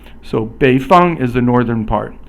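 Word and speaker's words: 北方: 北 is 三声, and 方 is 一声. 三声 is falling and then rising, and then 一声 is just the flat tone again. So 北方 is the northern part.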